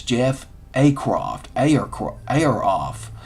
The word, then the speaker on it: Ayeroff: a croft a or ayeroff is a y e r o f off air off air off creative director